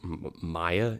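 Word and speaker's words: Maia: It is, I think it's pronounced Maya, M-A-I-A.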